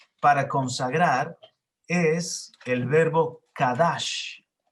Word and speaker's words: kadash: Sería C-A-D-A-S-H, Kadash, y también C-O-D-E-S-H, Kodesh.